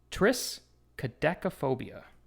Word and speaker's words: triskaidekaphobia: means is this one right here and it's pronounced triskaidekaphobia what is that the fear of again DME